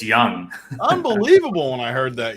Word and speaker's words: Josh Jung: pronunciations watching those games this dude's name's not Josh Jung that's it's young unbelievable when I heard